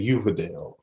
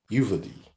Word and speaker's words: Uvalde: They're saying Uvalde. Uvalde? What? How to pronounce it? I thought it was Uvalde. Uvalde. All right, Uvalde. Yeah. No, this is a Hispanic place. That's day. It's not D.